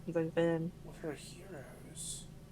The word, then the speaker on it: gyros: What are heroes? They're spelled like gyros. Oh, Euros. But they're pronounced heroes.